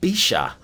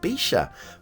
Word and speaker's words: Bíseach: Oops, different parts of Ireland pronounce it differently. I'm going with the Ulster variation there because Ulster is well, mostly part.